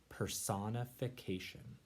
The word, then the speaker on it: personification: let's say it's lower personification person if vacation and that first part person kind of sounds like the word person right personification is when